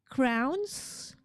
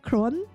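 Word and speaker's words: krone: How do you pronounce um Norwegian? Not crown. Cone. Crone. crone.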